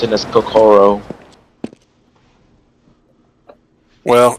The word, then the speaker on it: Kokoro: Well, you always emphasize the second syllable. I often don't do it because I was not raised Japanese, but the correct stress is to emphasize the second syllable of every word.